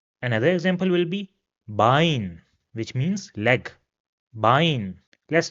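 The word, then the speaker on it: Bein: have similar pronunciations and both of them are pronounced as I in English. So for example this word over here will be pronounced as dry which means three d. Another example will be bine which means leg bine.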